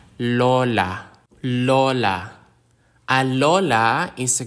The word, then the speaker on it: Lola: halaman is a plant the consonant L like the L in lamp Lola Lola a Lola is